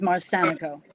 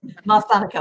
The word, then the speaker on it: Marsanico: Yes, and the pronunciation of my name is Marsanico. Marsanico, I do apologize.